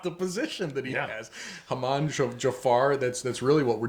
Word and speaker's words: Haman: His name is, we usually pronounce it Haman. Haman? It's Haman, something like that. If you got to have that little Middle Eastern flair, it's Haman, right?